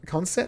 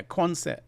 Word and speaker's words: Quonset: Concert hut?